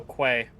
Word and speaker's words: quay: Q U A Y. Oh, quay.